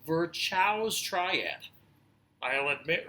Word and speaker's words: Virchow: reference to something called Virchow's triad. I'll admit right now, the correct pronunciation is Virchow. But there's a CH, so I just have to say Virchow, I'm sorry.